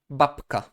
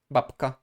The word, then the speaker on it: babka: Babka, kładka, książka, ławka. We have always the K as the second consonant, therefore we have to soften the preceding sound. Babka, kładka, książka, ławka.